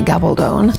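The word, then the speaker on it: Gabaldon: this is how it sounds my name's gabone gabone gabone gabone gabone gab Gabon gabone anyway go on now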